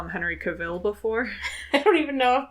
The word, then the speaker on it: Cavill: somebody call him Henry Cavill before. I don't even know. Is that wrong? Is it Cavill? Cavill, yeah. Is it Cavill? I like Cavill. It rhymes with Cruella de Vil.